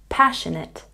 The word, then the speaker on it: passionate: syllable career career career passionate has a stress on the first syllable passionate passionate and about has